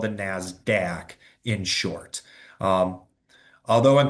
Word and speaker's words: NASDAQ: This is known as the NASDAQ uh is how it's p uh pronounced.